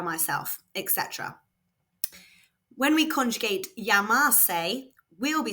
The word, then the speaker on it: llamarse: The verb to call oneself in Spanish is llamarse, remember that double L is pronounced y, so this word is llamo.